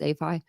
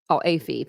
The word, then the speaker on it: Alpha Phi: Kaylee and Maddie's top choice was Alpha Phi, or I think it's A Phi, as it's known, APhi, pronounced APhi.